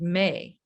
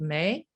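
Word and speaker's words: MEH: tone the vowel sound may it's spelled m-e-h but it's pronounced like the month of may and if we are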